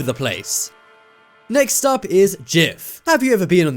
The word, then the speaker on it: GIF: format let everyone no it's pronounced jiff not gif but come on guys